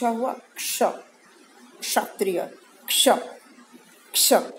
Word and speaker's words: क्ष: आधा क और श हुआ क्ष, क्षत्रिय, क्ष, क्ष। इसका उच्चारण हल्का सा क की ध्वनि आती है, क्ष, क्ष, क्ष।